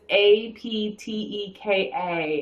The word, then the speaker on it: Apteka: We've always pronounced it Aptica, but we've heard people pronounce it Apteca. So if you're from Pittsburgh and you know which way that E is pronounced, we'd love to confirm that. But it's Apteka, and it's in Pittsburgh, and they